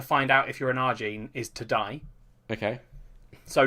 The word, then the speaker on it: Ajin: Ajin. Ajin. Yeah, but it's a Japanese pronunciation, mate, so it'd be like Arjin, maybe.